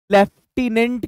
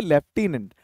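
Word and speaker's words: lieutenant: पता नहीं होगा ये वैसे इसको मैं बता दूं लेफ्टिनेंट कहते हैं ये जो है ना टिनेंट लिखा जाता है बट इसको पढ़ा जाता है लेफ्टिनेंट फौज में भाई ऐसे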